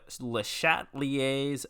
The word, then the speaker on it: Le Chatelier: section five stress and le chatelier's principle le chatelier is how you pronounce this um now some of